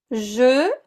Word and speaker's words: je: So listen to the difference in pronunciation between je and j'ai. Je, like in je suis américaine. J'ai, like in j'ai un cours de français.